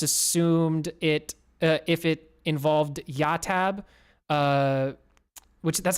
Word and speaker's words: YahTab: But just assumed it, if it involved YahTab, which that's how you say it, right? I asked before. yeah, YahTab.